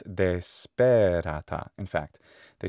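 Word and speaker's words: desperata: Instead of dēspērāta, it's dēspērāta.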